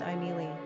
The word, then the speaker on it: Émilie: In France the name is pronounced Emilie.